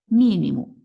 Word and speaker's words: mínimo: Mínimo, a sílaba mais forte é o mi.